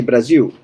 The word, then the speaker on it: Brasil: And there's, many Brazilians, they can't pronounce the L at the end. Brazil, they say Brasil.